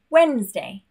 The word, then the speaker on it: Wednesday: And again, a random word, Wednesday, Wednesday.